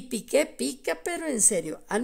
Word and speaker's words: Piqué: un un pobre chilito Comparado con pique con acento en la e o sea con Piqué porque parece que pique